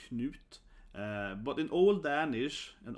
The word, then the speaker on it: Knut: But Knut, right? Like Scott. It's a very short, only four letters. So I think his name is definitely the most mispronounced, right? So again, Knut.